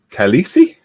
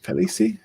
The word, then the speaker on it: Khaleesi: Game of Thrones, Khaleesi? Is that right? Khaleesi? You see, Yeah, yeah, that's how you say it. you pronounce it.